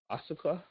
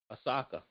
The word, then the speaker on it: Osaka: quick about naomi oh oh ossica did i say it right osaka there we go naomi osaka all right